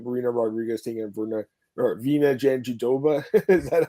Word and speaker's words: Jandiroba: We got Marina Rodriguez taking on Virna Jandiroba.